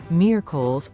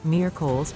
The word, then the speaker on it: miércoles: Miércoles, Wednesday. Now for a slightly trickier one, miércoles, or Wednesday. Let's break it down. The stress is on the first syllable, miércoles.